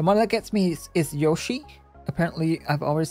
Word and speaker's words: Yoshi: yashi is more Japanese I think yashi is technically correct but in English I feel like most people say Yoshi Yoshi Etc okay so something is still bad yeah say it with a long o Yoshi Yoshi yeah I think I think that's the most common English pronunciation isn't it Yoshi rather than yashi but yashi is probably more Japanese yashi okay so this is